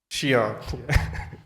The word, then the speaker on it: SION: How do you pronounce Xi'an? Is Xi'an or Xi'an, or it's a mixed, or Sion? So actually the survey was done on that, and correct pronunciation is Xi'an.